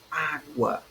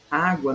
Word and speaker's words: água: Água, a divisão dela é água, certo? São duas sílabas. Então, nós temos a sílaba tônica na penúltima sílaba, certo? Porque guá é a última e a é a penúltima sílaba, certo?